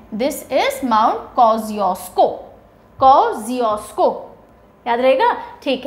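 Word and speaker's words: Kosciuszko: the mountain is mount कोजियो स्को कैसे pronounce करते हैं इसको कजियो स्को स्पेलिंग के हिसाब से मत जाना वरना कसिस को जैसा कुछ प्रोनाउंस करोगे कोजियो स्को माउंटेंस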